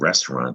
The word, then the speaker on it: restaurant: Think about the word restaurant, the root. That's a French word, another French word we have in English. Restaurant. That's how you pronounce it in French.